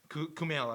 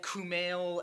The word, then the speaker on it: Kumail: My favorite part is, like, when Ray Romano and Kumail, that's how you pronounce it, right? Yes. Kumail.